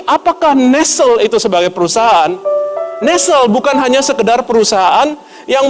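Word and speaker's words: Nestlé: Dan jika Anda tahu Nestle, sebenarnya Nestle bahasa Inggrisnya adalah Nestle. Nestle bukan Nestle. Kita suka bacanya Nestle, tapi dibaca yang benar adalah Nestle.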